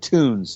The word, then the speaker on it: Toons: It's titled Terror Toons, and that's spelled terror, Toons, tunes, like cartoons.